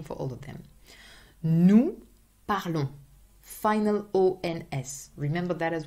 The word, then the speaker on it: parlons: Nous parlons, final O-N-S. Remember that as well, final O-N-S, always. I can hear like very weird things with the nous. Nous parlons, O-N-S, always, nasal sound.